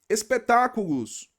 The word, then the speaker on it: espetáculos: Espetáculos. Olos. Aqui a gente tem e o tá. Não é a última, não é a penúltima, é a antepenúltima. Espetá é a sílaba tônica.